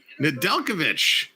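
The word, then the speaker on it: Nedeljkovic: for hall toronto shoots and they score nadalkovic that's how you say it nadalkovic and toronto found another hole kempf tips it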